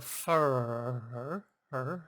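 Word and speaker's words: Hfuhruhurr: people mispronounce it but it sounds just the way it's spelled h f u h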